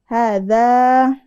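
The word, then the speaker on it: هذا: ada madnya terus ada tulisannya hadza ya panjang ha-nya ha panjang dza panjang tulisannya tapi kita bacanya pendek aja Haza ada lagi Hadi tulisannya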